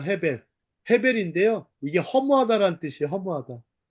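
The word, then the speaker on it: הבל: 아벨의 원래 히브리식 발음은 헤벨입니다. 헤벨.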